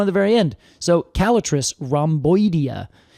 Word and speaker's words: Callitris: It turns out there's about 16 species of calatric, which I have to say I have always pronounced calistrus.